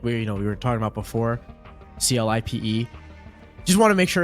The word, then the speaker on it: Clipe: Yeah, and we just got confirmation too that we were talking about before, CLIPE.